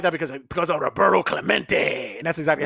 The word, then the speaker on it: Roberto Clemente: That, yeah, it would be some shit like that because of Roberto Clemente. And that's exactly how you say it. Roberto Clemente.